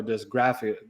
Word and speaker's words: dysgraphia: questions about, one of the dyslexia, dyscalculia, or dysgraphia, graphica or graphica? Dysgraphia. Dysgraphia. Okay, I'm trying to get the pronunciation.